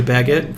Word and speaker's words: baguette: bread, or maybe a baguette for the crunch. Hits me every time. On a what? Like a baguette. A what? A baguette. You need to pronounce that B a little bit better, buddy. Baguette.